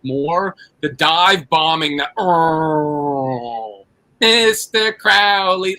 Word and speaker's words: Crowley: Well, it's it's Crowley.